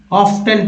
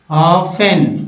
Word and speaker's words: often: या 60% लोग कहेंगे कि ऑफ्टन पढ़ेंगे, जबकि ये सरासर गलत है। बोलेंगे दोस्तों ऑफेन, ठीक है, ऑफेन बोलेंगे। क्योंकि दोस्तों टी जो है साइलेंट है।